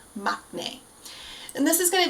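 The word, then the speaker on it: maknae: of the band perfect so again that word is machne um once again you'll see it uh when in comment or in subtitles it's usually spelled m a k n a e mne and this is going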